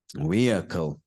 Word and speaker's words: vehicle: this many times before uh we uh weic vehicle not very he so there's no that that